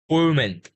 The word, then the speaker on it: woman: First of all, we say woman.